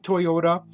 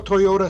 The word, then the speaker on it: Toyoda: And it started with Sakichi Toyoda, who invented a loom, who later sold it, made enough money for Kichiro Toyoda, and Toyota is spelled T-O-Y-O-D-A.